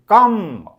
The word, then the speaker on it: comb: कहवा नहीं चक चक चक चक तेणु L silent रोची कम्ब कम्ब कम्ब कम्ब देखला देख COMB कम कम